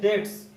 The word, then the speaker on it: debts: के बाद लिखा है हिज डेट्स, डेट मान होती है कर्ज, हिज डेट्स, इसमें बी साइलेंट है।